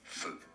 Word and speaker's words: feu: So it's the typical French E sound. It's rather short. Feu is il y a un feu, meaning Feu.